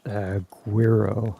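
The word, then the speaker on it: Güiro: It's Spanish. Guiro, I think it's pronounced. Oh, yeah. I think you're right. I think it is Guiro.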